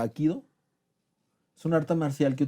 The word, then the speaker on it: Hapkido: Porque, por ejemplo, ¿han oído hablar ¿cómo se pronuncia? Hapkido.